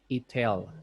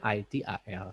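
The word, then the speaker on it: ITIL: Jadi jangan dibaca ETL, jadi bacanya ITAL.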